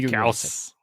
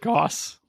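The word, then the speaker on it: Gauss: stuffy just double checked it is how is supposed to be gaus but I will not pronounce it gaus because I heard it the first wa Goss and that has ruined my long-term memory for that I'm not going to yell at you if you pronounce it Goss but I will pronounce it gaas all righty the intersphere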